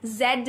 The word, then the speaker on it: Z: that correct pronounce see there are two pronunciations of this word British pronunciation of the word Zed Zed American people pronounce it like Z Z or Zed whatever you like whatever you like choice is yours okay so good to